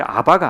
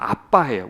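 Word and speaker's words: אַבָּא: 아바라고 하는데 아바가 아니에요. 정확히 발음하면 아빠해요.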